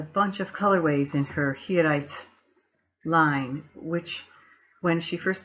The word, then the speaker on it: Hiraeth: to pronounce the line, and it's pronounced Hiraeth.